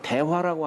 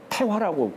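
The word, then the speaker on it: 大和: 보합 대화라고 하지 않고 보합 태화라고. 그래서 주역은 그렇게 읽어요. 태라고 읽어요. 대라고 읽지 않고.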